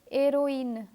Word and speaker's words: héroïne: letter I, the letters A and I are pronounced separately. Let me give you other examples: Noël, Israel, naïve, and héroïne.